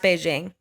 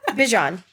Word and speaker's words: Bijan: Not pronounced Beijing. There's a TikTok of somebody asked him, they were like, what's the craziest way someone's ever pronounced your name? And he said Beijing, and I just can't imagine.